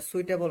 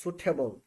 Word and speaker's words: suitable: will be suitable for us. আচ্ছা, আপনাদেরকে আমি একটা উচ্চারণ শেখাই, এটা সুইটেবল না, এটা হবে সুটেবল। সুটেবল বলেন, সুটেবল, সুটেবল, সুটেবল, সুটেবল, নট সুইটেবল।